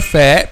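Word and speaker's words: فاء: We pronounce letter fa by making the inner the edge of the upper 2 front incisors, this part. So the edge of upper 2 front incisors touches the inner bottom lip.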